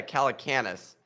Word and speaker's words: Calacanis: Jason Calacanis, one of the hosts of the All In podcast, Nick's smiling because I'm mispronouncing his name. You call it Canis. Calacanis? Yeah, Calacanis.